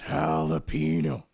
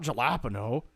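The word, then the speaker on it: jalapeño: It's jalapeno, not jalapeno. I know how to say it.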